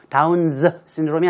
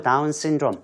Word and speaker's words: Down syndrome: S가 2번 나오니까요. 한 번만 발음하시면 될 것 같아요. Down's syndrome이 아니고 Down syndrome. 한 번만 하시면 될 것 같은데요.